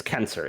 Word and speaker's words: censor: Is it Kenser or Censor? It's Kenser. It's pronounced.